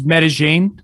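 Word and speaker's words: Medellín: spelt yeah so it's medellin uh yeah that's that's um that's how the locals say it um that's so hence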